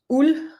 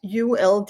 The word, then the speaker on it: uld: means wool spinnery, and that is pronounced uld. That's ULD, and this is where Danish is awful, because we have three letters, ULD, and I just say uld. You don't really hear the D.